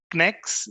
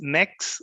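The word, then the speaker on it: Knex: are using sqlite and connects it's pronounced as next next or connects i'll stick to connects so here is a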